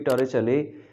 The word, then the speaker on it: Torricelli: कि एक Italian scientist टोरेचले, ये उसका इटालियन है और इसकी प्रोनाउंसिएशन इस तरह से होगी टोरेचले, ये उसने हमें दिया था.